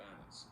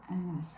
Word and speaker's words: Annas: 근데 이렇게 두 개의 자음이 똑같이 이렇게 쓰이면은 발음을 하나만 해요.